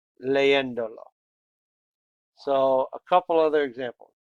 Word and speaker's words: leyéndolo: Now, if you add a pronoun, and it would fall on the next to last syllables, it would be leyéndolo. You don't want that. That would change it to here. So to maintain proper pronunciation, add an accent mark on the E. That still keeps it to leyéndolo.